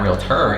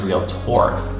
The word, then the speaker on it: Realtor: OR, not Realtor, it's Realtor. Pronunciation is key.